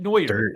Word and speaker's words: Neuer: I'm trying to say newer I just feel like I'm saying his name wrong how old is newer it was like 30. that's how you say it Neuer 36 37 isn't he